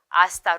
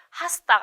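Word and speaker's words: hasta: 때문에 발음을 하지 않고 하스가 아니라 아스타로 발음을 해야 돼요 그래서 아스타로 해고 나중에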